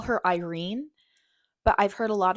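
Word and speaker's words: Yrene: Then in Tower of Dawn, I would call her Irene, but I've heard a lot of people calling her urine. Like really pronouncing the Y, but I still call her Irene.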